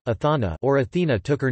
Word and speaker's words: Ἀθάνα: Attic Athena, Athena, Ionic Athene, Athene, and Doric Athana, Athana, or Athena took her name from the city.